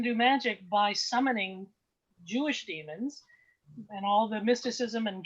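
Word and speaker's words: daemon: about why you use they're they're pronounced the same uh but uh d-a-e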